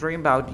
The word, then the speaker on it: about: Remember that about, you don't pronounce the a, you say dream about you.